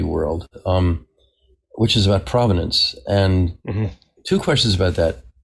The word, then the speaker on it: provenance: magic provenance word um I've heard him pronounced a bunch of different ways including like a common uh misconception there people say Providence a lot which is you know a city in Rhode Island near where I live